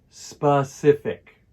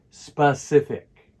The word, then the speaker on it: specific: correct pronunciation is thick notice that the word stress is on the middle syllable try to say it with me specific come on one more time specific specific has the same